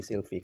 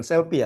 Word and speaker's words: Silvi: Oke nanti bisa ditanya-tanya nanti si Silvie. Kenal kan sama Reena? Kan kenal K. Oke baik. Thank you. Eh Silvi. Bukan Selfie ya Silvi.